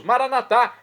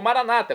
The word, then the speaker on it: Maranata: E agora eu clamo do aramaico, dialeto de Jesus, Maranatá, como dizemos nós católicos, ou Maranata, como dizem nossos irmãos separados, os evangélicos ou protestantes, não importa a pronúncia, o significado é o mesmo.